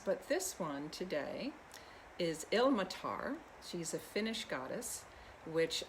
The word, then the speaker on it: Ilmatar: because she is indeed ill-matar i've been pronouncing it the wrong way in the past that the accent is on the first syllable she is the daughter